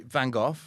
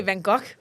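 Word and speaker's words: Van Gogh: and they be actually vanov oh yeah I say it wrong how do you guys say vano Oh no you're not Dutch I keep thinking you're Dutch you're Danish okay I would say vok yeah that's it that's how they say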